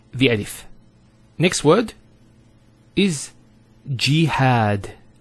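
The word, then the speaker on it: جهاد: Next word is jihad. So we have here G, that's the first syllable, and then had, jihad.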